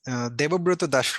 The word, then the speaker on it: Debobroto Das: yourself okay hello everyone so my name is Debo Bruto Dash Robin so back to in my country usually